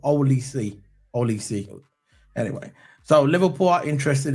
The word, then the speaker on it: Olise: Michael Osio. Is that his name? Is that how you pronounce it? Oliso. Olise.